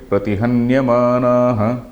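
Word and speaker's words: प्रतिहन्यमानः: Vignair muhurapi pratihanyamanaha. Vignair muhurapi pratihanyamanaha. Muhurapi pratihanyamanaha. That pra also we have to pronounce.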